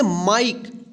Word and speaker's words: Mike: MIKE, इसको क्या पढ़ेंगे, माइक। देखिए कल के हमने क्लास में सीखा था ई के उच्चारण नियम में कि जब किसी वर्ड के